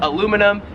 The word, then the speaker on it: aluminum: and whatnot we would call it in America aluminum here in Australia it is Aluminum 10 is